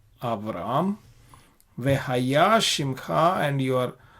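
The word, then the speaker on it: אַבְרָם: Velo ikare od et shimcha Avram, vehaya shimcha Avraham, ki av hamon goim netatika.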